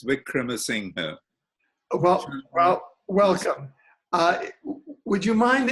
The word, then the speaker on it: Wickramasinghe: name as reasoning and it's a phonetic language single as it's pronounced exactly as it's written which is Vikram Singh well welcome would you